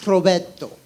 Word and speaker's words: Roberto: So in Spanish, my name Roberto is pronounced Roberto.